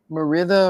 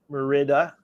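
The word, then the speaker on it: Mérida: So Ricardo says the city is Merida Merida Merida in Yucatan State.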